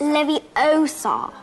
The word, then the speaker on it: Leviosa: someone's eye out besides you're saying it wrong what i say it's leviosa see here everyone